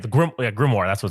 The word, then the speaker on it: grimoire: The grimoire, that's what it's called.